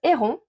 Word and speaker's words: Héron: Le 4e modèle est le top Héron. Je le prononce à la française, ne m'en voulez pas.